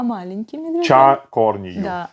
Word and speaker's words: Чан к1орни ю: То есть не надо говорить чан корнию, надо говорить ча корнию.